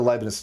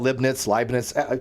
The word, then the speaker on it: Leibniz: I think it's Leibniz. That's how I've always pronounced it as Leibniz, but who the hell knows? Leibniz. There's no T.